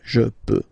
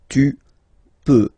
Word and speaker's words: peux: Final X not pronounced here, okay? So you've got X, but you don't pronounce it. So basically, you get the sound peu, peu, je peu, okay, so I can, je peux, okay, then tu, tu peux, same pronunciation and same spelling or writing, okay, P-E-U-X, okay, don't pronounce the final X, tu peux, okay, je